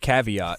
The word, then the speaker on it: caveat: more hobbies that's okay I heard Kavita the other day instead of caveat and I just walked